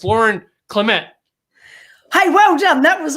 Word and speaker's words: Clemett: let's bring lauren up here and it's lauren clement hey well done that was awesome i love the way you pronounce my surname okay so i mean yeah